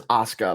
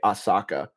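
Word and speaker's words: Asuka: Yeah, she had uh she had Money in the Bank um last year and her name is Assuka, by the way. You always say Asaka.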